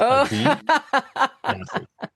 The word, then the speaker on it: Adi: Ai Joff. Did I pronounce your last name correct?